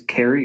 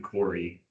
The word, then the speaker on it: Corey: and approval and it's Carrie right? I think it's actually pronounced the same name Corey.